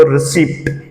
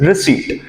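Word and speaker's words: receipt: हिंदी में कहते हैं आप कहते हो रिसीप्ट ल right but this is actually called रिसीप्ट what this is actually called रिसीप्ट okay रिसीप्ट नहीं होता है दिस इज रिसीप्ट वल मूव टुवर्ड्स द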